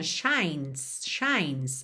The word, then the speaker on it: shines: Já mesmo na linha de cima, shines. A gente vai do N direto pro S, porque essa letra E não é pronunciada.